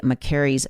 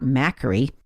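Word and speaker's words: Makary: name of dr marty mccary's book wrong it's the price we pay not whatever i said but i also mispronounced his name it is mccary not macri and for clarity in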